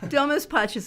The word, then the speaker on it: Domus Pacis: Domus Pacis is Latin for house of peace, and the thing to remember is always think about softness. Domus, do, like a deer, moose, like a moose, which we all know about.